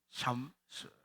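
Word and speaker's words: Psalms: 잘못하면 이게 이게 나오는데 삼스 스라고 그러 발음을 앞에 피 발음 있어도 피 발음이 거의 무 안 나옵니다 뒤에 이제 잘못 뜻이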